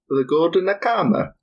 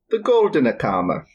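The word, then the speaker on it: Goldene Kammer: And I'm actually going to use Nick's knowledge of German to pronounce the name of this room where they kept the bones. Okay. It is called The Golden Kammer. the what? The Golden Kammer.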